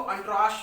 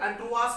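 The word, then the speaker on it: entourage: Next word आपको अंट्राश मिल जाएगा। देखिए इसका प्रोनाउंसिएशन ध्यान रखिएगा, ये अदरवाइज आप इसको पढ़ नहीं पाएंगे।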